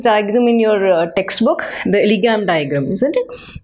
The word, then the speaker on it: Ellingham: So N is silent in this Ellingham.